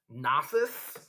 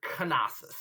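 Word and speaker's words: Knossos: called um well so there's a bunch of different pronunciations um there are people that say it gnosis there are people that say gnosis i've even heard canosis although not too often um so nasus gnosis however you want to say it um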